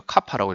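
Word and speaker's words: κ: 근데 K가 아니고 카파라고 읽어요.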